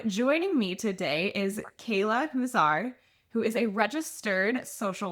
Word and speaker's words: Huszar: So, like you said, uh my name is Kayla Huzar like an owl. That's how you say it.